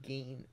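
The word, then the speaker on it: Gein: said ed you know he said the last name wrong it was ed gain as far as from what i've heard it's gain not you know whatever he said but yeah that reddit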